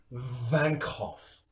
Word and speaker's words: Vankhoff: It is pronounced Vankhoff. It is not pronounced W, it is V.